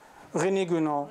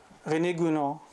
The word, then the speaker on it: René Guénon: René Guénon, exactly.